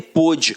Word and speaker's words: pôde: Um dia ele pôde, hoje não pode mais. Reparem que a pronúncia é até diferente, né, cara?